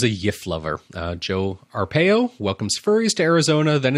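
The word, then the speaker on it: Arpaio: I always get his I can never say his name right I want to say arpegio every time I see it but that must be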